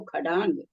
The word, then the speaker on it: षष्टांग: उच्चारण ख होता है, प वाले स का उच्चारण ख होता, तो खड़ांग, बहुत जगह ख होता है इसका उच्चारण, आप लोग देखेंगे ना बहुत जगह आएगा।